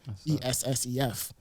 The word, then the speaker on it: SF: But if you like were to pronounce it, it's SF, ESSEF.